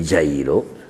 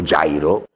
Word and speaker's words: Giairo: resuscitato la figlia di giairo o giairo E comunque siccome tutte le parole ebraiche per sé finiscono come la francese con l'accento in fondo sarebbe già basta mettis